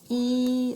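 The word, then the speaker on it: 一: number to write right number one pronunciation is e like in easy number two sounds like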